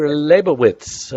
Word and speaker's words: Lebovitz: today diseases all right enough of that Dr labowitz I'm pronouncing your name right am I yes great